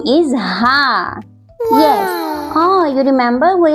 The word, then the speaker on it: ہ: In this letter, we pronounce this letter from our chest.